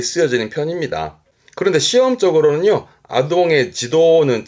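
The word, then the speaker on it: 児童: 발음은 지도, 음은 도죠.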